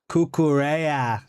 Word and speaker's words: Cucurella: You are saying his name wrong. It's C-U-C-U Reyes. Say it like that. Cucurella.